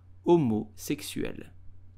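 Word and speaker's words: homosexuel: French pronounce it correctly you will simply say umu sexual homosexual Mo sexual The Edge is totally silent so do not say homosexual but just homo sexual I hope you enjoyed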